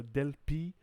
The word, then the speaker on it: Delphi: we introduced to delphi now ph in latin is not like it is in english but it's almost you say each letter so del pi est delfi is also